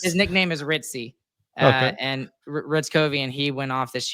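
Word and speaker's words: Hryckowian: It starts with an H, but he but you start it with an R. Nice. His nickname is Ritzy and Ritz Kovian and he went off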